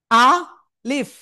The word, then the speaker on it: আলিফ: এই আলিফ অক্ষরটা আসলে কোন জায়গা থেকে উচ্চারিত হবে? আমার দিকে তাকাতে হবে সবাই। আ লিফ। আ লিফ। তো প্রথমে আ তারপরে লিফ।